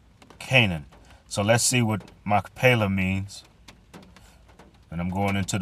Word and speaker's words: Machpelah: wife, in the cave of the field of Machpelah, before Mamre, the same as Hebron, in the land of Canaan. So let's see what Machpelah means.